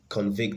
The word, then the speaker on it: convict: have verb of convict so we have convict convict so its convict so the stress is on the second syllable so that's not going